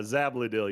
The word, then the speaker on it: Zabil: Man, to start off, how do you say your last name? Because I am I don't I don't even try to say anymore because I will butcher it if I do. Uh, Zabil, you just got to break